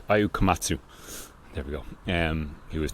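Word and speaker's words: Ayao Komatsu: Ayu Katsuta, I can never pronounce his name right. Ayu Komatsu, there we go.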